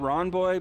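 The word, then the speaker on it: Rawnboy: but I've done uh the channel is called Ron boy but it's spelled r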